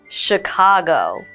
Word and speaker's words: Chicago: I was born in Chicago the CH here is an sh sound so that's all we